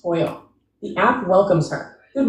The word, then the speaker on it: TOYL: She opens TOYL, pronounced toil.